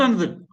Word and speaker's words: another: And not another, another. Another. Yeah, another. Give an extra stress on that n.